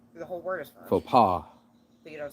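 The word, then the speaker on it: faux pas: a French s the whole word is French PA you don't say yes there's no for PA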